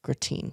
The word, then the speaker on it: gratin: Then fourth course was prime cheekstone New York with tarragon and thyme and marble potato gratin.